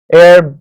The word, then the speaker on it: heir: It will be noticed that the words hour, honest, heir begin with a vowel sound as the initial consonant H is not pronounced.